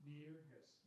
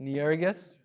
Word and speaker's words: Nyerges: Is that how you pronounce Christopher's last name? Nyerges. Nyerges.